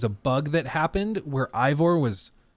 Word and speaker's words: Eivor: bug that happened where Eivor, it depends on if you guys want to make fun of me for pronouncing it as Ivor, where he was drunk.